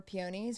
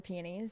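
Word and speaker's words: peonies: My favorite flower are pionies or pianies depending on where you're from in the country, how you pronounce it.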